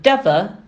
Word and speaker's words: Deva: burrows i understood that the pronunciation of deva rhymed with cover this is an update